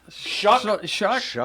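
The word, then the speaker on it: Shough: Pronounce his name. Yeah, Shuck.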